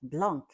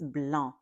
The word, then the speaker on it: blanc: But when I was a little girl and I read that word blanc, I was told it's not blanc, it's bl because the c at the end is silent.